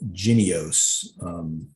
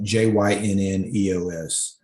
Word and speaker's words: Jynneos: I think it's pronounced Jynneos. Yeah, that's right. Jynneos.